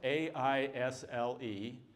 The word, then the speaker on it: aisle: go the word Isle a-i-s-l-e has three silent letters a-s-n-e there is no common English word that has four silent letters the word aisle has three silent letters a-s and E there is no common